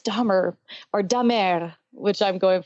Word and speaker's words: Damer: You're using, by the way, the German pronunciation of my last name, but it's actually Dahmer? It's Dahmer, the British, but there's also a French Canadian. I'm from Canada, so when I'm in Quebec, it's Dahmer.